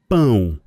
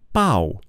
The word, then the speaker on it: pão: And the word for bread in Portuguese is pão. Pão is a very nasally sound.